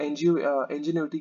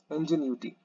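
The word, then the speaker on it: ingenuity: इसलिए यहाँ पे सप्रेसेस ऑफ यू नो इंजीनियरिटी के बारे में बोला गया है, इंजीन्यूटी, इंजीन्यूटी, ठीक है। इसको थोड़ा प्रोनाउंस करना अच्छे तरीके से, क्योंकि मैं भी स्टार्टिंग में नहीं कर पा रहा था।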